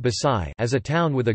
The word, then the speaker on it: Baxay: Later being conquered by the Gujarat Sultanate, a few years later Barbosa 1514 described it under the name Baksay, pronounced Basai, as a town with a good seaport belonging to the King of Gujarat.